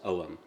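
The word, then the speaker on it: Ogham: but it's pronounced om in modern Irish and this alphabet is 5th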